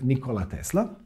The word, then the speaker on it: Nikola Tesla: inventors that world ever had his name was Nikola Tesla and yes that's how his name is properly pronounced or at least that's how he would